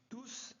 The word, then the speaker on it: tous: l'examen faites attention ici quand tout est un pronom et bien on prononce s ils ont tous réussi l'examen c'est bon